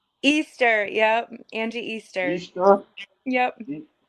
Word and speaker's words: Easter: Angie Easter. Easter. Yep. I could have sworn on your Instagram page I see the Mester. It's my middle initial, Angie M. Easter.